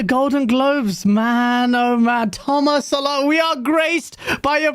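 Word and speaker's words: Tomas Sala: You can pronounce it any way you want. It's Thomas Salah. It is. Thomas Salah.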